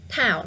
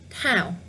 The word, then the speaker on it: Thảo: The correct one is left. Thảo now. Yeah. I think twice is enough. The one I was pronouncing on the right hand side is tờ. It's stronger, you know. Tờ, Thảo. And the left one, Thảo.